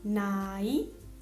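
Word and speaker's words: 나이: La consonante ien invece è muta quando all'inizio della sillaba è seguita da vocale, quindi si legge direttamente la vocale che segue, per esempio ai, ai, il bambino, nai, nai, l'età.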